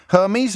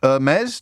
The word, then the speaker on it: Hermes: Hermes, or Hermes, depending on your pronunciation proclivities.